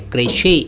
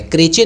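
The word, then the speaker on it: crèche: यह एक French word है, क्रेशे प्रोनाउंसिएशन है, क्रेचे नहीं पढ़ दीजिएगा, ठीक है, क्रेशे।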